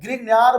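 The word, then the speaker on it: Grignard: के साथ में रिएक्शन ग्रिगनार्ड एक वैज्ञानिक का नाम है ना ग्रीनर बोलते हैं हिंदी में ग्रीनर बोलते हैं ना डी साइलेंट होता है तो ग्रीनर हो गया तो ग्रीग नाड हम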